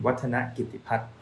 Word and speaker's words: Wattanagitiphat: you can repeat after me not to win water not give the part that's right so which name would you like me to pronounce next Let's us know comment below and